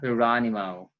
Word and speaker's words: Geronimo: We have Regine Velasquez and Sarah Geronimo, or Geronimo for some. But I would stick with the Filipino or the Philippine pronunciation with a little twang.